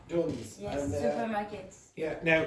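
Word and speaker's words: Dunnes: yeah, now just to clarify, if you pronounce it in a French way, it sounds more sophisticated than it really is. So the pronunciation is duns. Now, if you say dunes, it sounds much more sophisticated.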